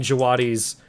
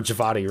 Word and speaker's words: Djawadi: have a good soundtrack, like Ramin Djawadi's, or Javadi, rather. I always mispronounce his name.